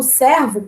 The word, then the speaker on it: servo: O servo com S, a gente até pronuncia diferente. Servo, como se tivesse um acento, não é, né? Um acento agudo, não é?